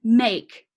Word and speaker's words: make: There is a silent E at the end. It also reminds me of some other words that I know, like take and rake.